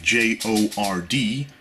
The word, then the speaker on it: Jord: This is called a Jord watch, J-O-R-D. So, you know, you spell it like that, but you say it like Jord.